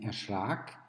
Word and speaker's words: erschrak: Erschrecken schreibt man mit CK nach einem kurz ausgesprochenen E, währenddessen man erschrak nur mit einem K schreibt, weil das A lang ausgesprochen ist.